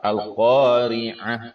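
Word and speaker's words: القارعة: Al-Qari'ah itu ain ya, bukan a. Nah, kadang Al-Qari'ah karena bacanya dari Latinnya, padahal di sana huruf ain.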